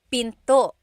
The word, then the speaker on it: pinto: Door in Tagalog is pinto pinto. And remember, don't forget the glottle stop. Don't forget to stop the sound at the end.